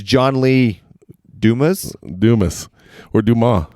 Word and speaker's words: Dumas: It's John Lee Dumas? Dumas. Or Dumas. Dumas. The S is silent.